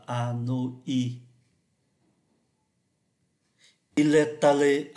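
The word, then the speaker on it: Hanoï: À Hà Nội, chúng ta phải để chỗ này là y tréma để cho nó tách âm ra. Và khi chúng ta có y tréma thì chúng ta sẽ thấy là đọc là Anoi.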